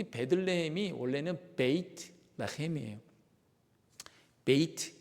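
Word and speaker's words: בית: 두 번째 그 글자인 베이트, 알파벳 베이트예요. 두 번째 글자 베이트로 되어 있어요. 제가 그걸 이제 보여드리도록 하겠습니다. 그림 볼게요. 이게 이제 히브리어 언어의 오른쪽이 베이트라는 거예요. 베이트. 영어로 보면 발음이 B 발음이 나요.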